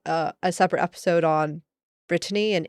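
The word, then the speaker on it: Brittany: also touched on uh Britney Britany the geographic location um not Britney right right not Britney the person b r i TT a n y the place um and there is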